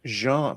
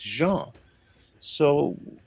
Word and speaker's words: Jean: And my first name, legally, is not John, it's Jean, because I was born in Belgium, and the doctor just filled in, well, in Belgium, it's Jean. So people call me Jeans, they can't pronounce, they